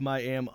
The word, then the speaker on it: Miami: And it's actually pronounced Miami? No, It's Miami. you got it. I was reading your stuff. That's right, Miami. Miami. Yes, if you pronounce it Miami, they'll throw rocks at you.